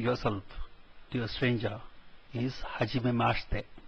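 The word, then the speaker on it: はじめまして: Please note the second I which comes towards the end is silent, mashite, not mashite, and the T at the end of the is pronounced as if it is TH.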